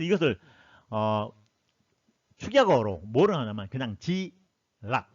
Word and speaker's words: G-LOC: 그래서 이것을 축약어로 뭐를 하냐면 그냥 G락, LOC라고 하는데 발음은 G락으로 하는 거예요.